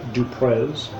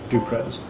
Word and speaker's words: Duprez: is detective sergeant jay dupres j duprez sorry i don't know why i pronounced that like it was french j period it's initial j duprez um so frida and